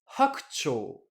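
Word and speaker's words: 白鳥: prononcer hakucho.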